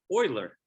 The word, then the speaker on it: Euler: and our final mathematician whose name is Leonard Oiler it's it looks like people say uler a lot when they see it spelled e